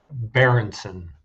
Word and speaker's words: Berentzen: Berenson. Spell it one more time.